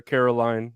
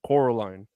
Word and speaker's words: Coraline: name in the movie they keep calling her Caroline but it's Coraline oh that's so confusing